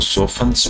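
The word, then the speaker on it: softens: इट सॉफ्टन सॉफ्टी silent रहता है। इसको सोफ्स बोलते हैं।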